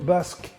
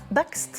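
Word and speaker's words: Bakst: Léon Basque. Non, Baxt. Bax, pardon, je le prononce Baxt.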